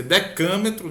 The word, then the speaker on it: decâmetro: com Deca metro e na verdade a gente pronuncia decâmetro né I became true